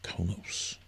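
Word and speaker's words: Qo'noS: Maybe I'll make a special world and call it Kronos. I think it's still pronounced Kronos, even though there's definitely no R. But they pronounce it that way.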